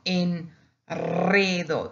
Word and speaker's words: enredo: Also, enredo, you see the single R after that N, it becomes double.